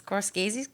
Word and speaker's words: Scorsese: if we put Endgame in the number 1 spot as Scorsese's, people gonna come after us?